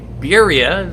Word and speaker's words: Biria: and I find this birria is that my saying it right yes you are electric folding bike 1,400